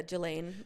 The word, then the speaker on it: Ghislaine: Yeah, Ghislaine.